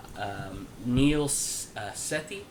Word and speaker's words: Neil Sethi: Neil Sethi, I believe is how it's pronounced.